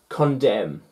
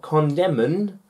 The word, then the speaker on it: condemn: the n condemn not condemnin condemon it's condem if the n is removed the sound stays the